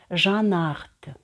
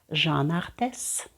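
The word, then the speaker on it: Jean Arthes: трішечки Помучив ви знаєте різні франкомовні блогери вимовляють цей бренд по-різному я чула жанах Жанна арте і на силу знайшла офіційну інформацію що треба говорити жанр ТЕС отже Жанна артес ми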